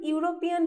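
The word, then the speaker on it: European: मतलब ई वल है लेकिन हम जब यूरोपियन प्रोनाउंस कर रहे हैं ना तो साउंड क्या हो रहा है फर्स्ट हम लोग कैसे साउंड कर रहा है यूरोपियन का यूरोपीयन तो फर्स्ट साउंड आ रहा है यू मतलब देखिए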